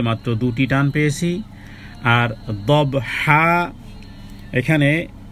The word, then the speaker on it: ضبحا: আর দবহা এখানে দব, এটাকে কলকলা করতে হবে, কারণ বা জিম দাল তোয়া কফ যখন সাকিন থাকবে তখন তার একটা প্রতিশব্দ উচ্চারিত হবে, দব দব।